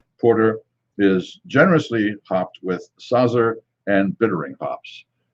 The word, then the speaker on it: Saaz: And it says Sinebrychoff Porter is generously hopped with Saazer and bittering hops. Saazer, as I know the pronunciation would be Saaz without the ER, but it comes from the Saaz region of the Czech Republic.